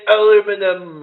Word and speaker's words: aluminum: It's like, we say aluminum, and then British people, they say aluminium.